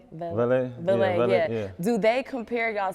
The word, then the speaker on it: Valee: Now, do people compare you and I don't want to mispronounce it, Valee? Valee, yeah.